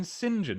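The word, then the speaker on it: St. John: although anyway probably it's probably austin sinjan isn't it that's how saint john is pronounced is that true in america it is here i have no i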